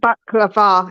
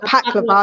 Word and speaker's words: baklava: and baklava. It's not baklava, it's baklava. Not baklava. Yeah, baklava.